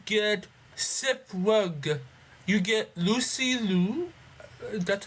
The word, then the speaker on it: Lucy Liu: Jackie Chan, you get Seth Rogen, you get Lucy Liu. That's how you pronounce her name.